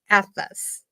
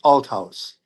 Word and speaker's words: Althaus: Please welcome Atlas. Hi. You were close with the last name. It's pronounced Al House, but you're close enough.